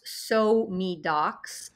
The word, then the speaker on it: SoMeDocs: It's because it's pronounced SoMeDocs.